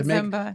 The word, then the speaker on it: Ziemba: you as, Ziemba, because you say Ziemba, I think, right? Yep, it's Ziemba. To make it Ziemba, but it's Ziemba, which sounds pretty cool. Yeah, it's actually my dad pronounces it Ziemba, but I don't like how that sounds, so I decided not to do that. But it's actually Ziemba it's a Polish root.